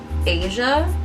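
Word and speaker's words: Aja: to grab, this really deep emerald shade called Asia. It's spelled A-J-A, and I kind of want to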